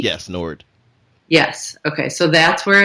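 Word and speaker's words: Noord: is in I'm not exactly sure how you pronounce it is it Nord and oor D yes Nord yes okay so that's where it is it's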